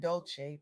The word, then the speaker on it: Dolce: Leanne Dolce, pronounced dol-say like sweet softness whispered in French, is creating a space